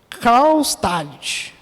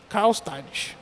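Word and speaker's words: Karlstadt: o nome do amigo de Lutero é quase impronunciado viu irmãos Carl stad Carl stad vamos chamar ele de amigo de Lutero amigo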